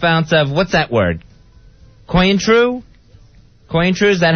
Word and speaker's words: Cointreau: That's how you say it, Cointreau.